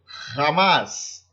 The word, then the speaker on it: jamás: Bom, la J, né, o J, terá sempre som de RR, como no exemplo Jesus, jamás, Jesus, jamás, sempre vai ter o som de RR.